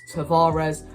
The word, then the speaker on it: Tavares: nuno tavares and um tavage i think it's pronounced tavage if you're portuguese but obviously a lot of arsenal fans pronounce his name as tavares for me i think